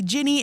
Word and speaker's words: Ginny: yes, I say Ginny. It rhymes with skinny.